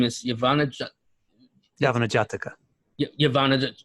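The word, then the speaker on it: Yavanajataka: like what has been talked about I can't pronounce the name is yavana yavana jataka yavana say it again please yavana jataka yavana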